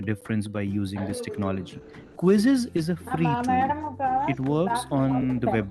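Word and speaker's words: Quizizz: and has it been its name is also quizzes but the spelling is slightly different it is spelled as q z i z z this is a website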